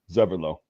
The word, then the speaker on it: Zeverlo: It's just like a Z sound. Zeverlo. Zeverlo, yeah. Their Z's are pronounced like a TS sound, like t.